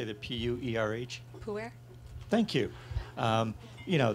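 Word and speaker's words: pu-erh: it, the pure, how do you say the P-U-E-R-H?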